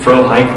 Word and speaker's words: Frohike: played by Braidwood, Frohickey, that his name was supposed to be Frohike, wasn't it? Was it Frohike, the pronunciation originally? I'm actually asking you, Lynn. Well, no, it was Frohickey.